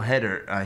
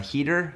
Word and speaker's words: Hader: It's funny you said that, because you were talking about Bill Hader. Heater?